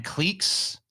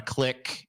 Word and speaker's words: clique: goddamn word social Clique it's not a click it's a clique everyone's wrong so [